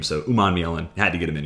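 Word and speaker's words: Umanmielen: So Umanielen, had to get him in here.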